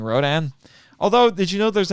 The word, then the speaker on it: Rodan: let me tell you in japan they call him radon which is a